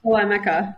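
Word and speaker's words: Elemica: Prior to Proformex, she held executive leadership positions at MacroPoint, a third-party visibility platform for logistics, and Elemeca. Did I say that right, Kris? Elemeca.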